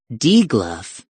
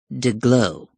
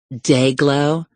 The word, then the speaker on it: DeGlow: Despite a suddenly dry throat, he managed, "Not de-gluff, de-glow." Icon of pulchritude #1 blinked prettily. "Excuse me? Not D, but day. Not gluff, but glow. De-glow." Her limpid eyes widened. "Your name is pronounced Day-glow?"